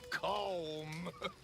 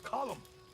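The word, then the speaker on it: Colm: it's not cold calm it's column in Ireland we say column well uh he likes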